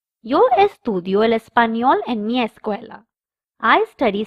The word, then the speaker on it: español: The third subject is el español, Spanish. The N has a curly line on top, so we pronounce it as nia.